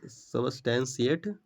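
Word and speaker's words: substantiate: Pronunciation सबस्टेंशिएट।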